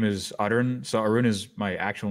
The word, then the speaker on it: Arun: Yeah, you don't have to roll your R. You can just say Arun. Arun is fine.